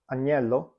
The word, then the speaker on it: agnello: When you see a GN in the spelling, as in the word gnocchi or agnello, the GN is always pronounced as a double consonant sound, and the same goes with GL, as in the words aglio or maglia.